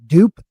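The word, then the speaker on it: Doop: uh and I think I always pronounced it um like dupe like Loop but it's with a d dupe uh he's an ex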